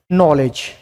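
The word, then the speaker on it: knowledge: जैसे अंग्रेजी भाषा का हम एक एग्जाम्पल लेते हैं कि अंग्रेजी भाषा का एक शब्द है नॉलेज। क्या शब्द है, नॉलेज। इसमें क्या साइलेंट है, के साइलेंट है।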